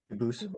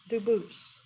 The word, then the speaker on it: Dubus: They do pronounce it dubis, but you said you pronounce it dubus as the original dub as the original French. Yep. Very well. Duboose.